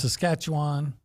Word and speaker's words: Saskatchewan: Leon O'Neill who's picked up um was this Saskatchewan is that how you say it this is that what I said yes Saskatchewan I guess are they still called the Rough